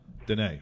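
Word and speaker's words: Diné: Yeah, Missing and Murdered, then the Near is spelled D-I-N-E. Gotcha. Okay, Dene, right?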